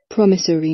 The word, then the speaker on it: promissory: 这个单词确实挺容易把它的那个重音部分给弄混的。听一下 promissory note promissory note promissory